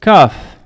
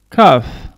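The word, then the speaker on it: calf: je répète sarrail vaud c'est kof kof ne prononce pas le el kaf la jambe ces legs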